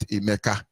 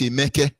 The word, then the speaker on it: Emeke: I say, no, my son's name is not Emeka. It's Emeke. But whether Emeka or Emeka, it's the same thing.